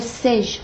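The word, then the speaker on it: Saige: Pour les Sage, comme ça s'écrit, téléviseur de marque Sage, S-A-I-G-E, essayez le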